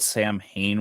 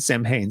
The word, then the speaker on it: Samhain: You said Samhain, so I'm like, wait, are we talking about the actual? That's how the English people pronounce it, Samhain.